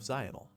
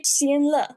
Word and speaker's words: Xianle: 800 years ago, he was a revered martial god, the crown prince of Xional. Xional? Like vinyl? Where the f is Xional? It's supposed to be Xianle.